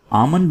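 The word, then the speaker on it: almond: आमंड में यहाँ पे जो L है अल्फ़ाबेट, इसको आपने साइलेंट रखना है। ये वर्ड है आमंड, आमंड, बादाम।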